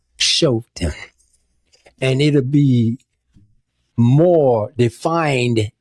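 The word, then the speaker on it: Shoftim: Or in the Hebrew word it would have be it would be the book of Shofetim. Shofetim. That's s h o f t i m. Shofetim.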